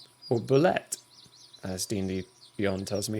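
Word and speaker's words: bulette: They befriended a bear, convinced it to join them, and also killed a strange deformed bullet, or bullet, as D&D Beyond tells me it's pronounced.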